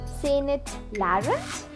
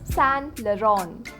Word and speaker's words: Saint Laurent: Do you say it as Saint Laurent? Then it's time for you to learn it. The correct pronunciation is Saint Laurent. Saint Laurent. Practice it with me. Saint Laurent. The T is silent.